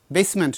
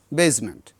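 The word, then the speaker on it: basement: আমরা শব্দগুলো পাব তখন ওই বেইজ বেসমেন্ট নয় বেজমেন্ট তখন এস এর উচ্চারণটা জটা জেড এই সাউন্ড হবে এরকম শব্দগুলো তো আমরা বাংলায়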